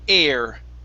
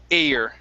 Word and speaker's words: air: very nice okay here instead of ir the word is air okay long a sound a year air air there you go